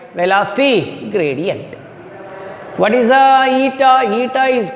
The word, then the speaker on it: eta: That constant is pronounced as eta. How we can read it is eta.